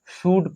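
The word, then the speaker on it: should: के एफ से पहले एल आता है तो एल साइलेंट रहता है क्या पढ़ते हैं शड पढ़ते हैं वड पढ़ते कुड पढ़ते हैं ठीक यह थी उचार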